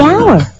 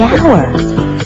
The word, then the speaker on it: hour: owner the animal the hour wait H is not a vowel sound it's a consonant sound but it's not the first sound the H is silent the hour but what about the